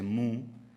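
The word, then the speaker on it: MW: Bueno, Tetsuka sigue estando muy presente en el imaginario colectivo japonés. En el año 2009, por ejemplo, se adaptó al cine con imagen real Mu, así es como se pronuncia en japonés, una película de animación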